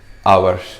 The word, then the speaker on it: hour: Okay, marka labaad waxaa waaye goorma exceptionka labaad when h is silent. When the h is silent. xarafka h hadduu soo horeeyo kelmadda uu yahay silent. Silent waxaa marka uusan loo dhawaaqayn. Okay, example maxaa noqon kara? For example hour.